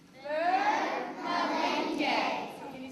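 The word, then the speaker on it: मिलेंगे: And this is how you say it. Ready? It's Malenge. Malenge.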